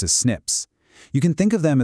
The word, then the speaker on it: SNP: These are called single-nucleotide polymorphisms, usually just pronounced as SNPs.